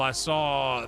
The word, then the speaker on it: Isa: like, the way that the best way I could describe it even then was like, yeah, just think about like the Bible character Esau.